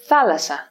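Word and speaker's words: θάλασσα: next to each other for example thalassa c we pronounce the double sigma as if it were only one the only exception here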